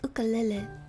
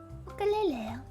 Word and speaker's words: ukulele: I recently learned the right way to pronounce ukulele is ukulele. Ukulele.